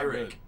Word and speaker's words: Pyrrhic: the pronunciation Pyrrhic.